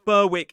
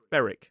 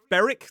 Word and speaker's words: Berwick: seen as tweed but the pronunciation is not burwick it's beric. Some people just say beric they drop the w whereas others will say beric upon tweed.